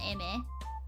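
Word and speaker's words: Aimer: texture is am uh spelled Amer but it's pronounced Amy and she she has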